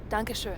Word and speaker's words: Dankeschön: Dankeschön.